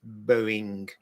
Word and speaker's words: Boeing: It's Boeing.